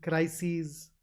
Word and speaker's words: crises: This ES is pronounced as E's. So analyses, axes, crises.